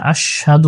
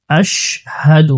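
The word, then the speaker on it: أشهد: আশহাদু আল্লা ইলাহা, আশহাদু অনেকে আছে আশহাদু বলে থাকে, আশহাদু এখানে হবে আশহাদু, হামজা শিন জবর আশ, হা জবর হা, দাল পেশ দু।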